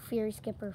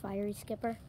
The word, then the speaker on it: fiery skipper: uh mispronunciation last time it's uh not fairy skipper fiery skipper just figured that out